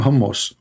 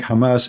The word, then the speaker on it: Hamas: Trump, he do not know how to say the word Hamas. He called them hummus. He just called Hamas hummus. Hamas.